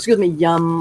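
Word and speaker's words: Yam: Okay, so the syllable or the sound is yum. I'm sorry, Y-A-M, but you pronounce it like yum.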